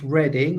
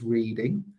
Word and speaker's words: Reading: Just to say it's pronounced reading, although you might read it as reading.